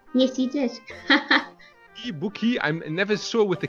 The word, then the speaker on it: Bukie: if it's a geez it's like boogie so the K is a G and the pH is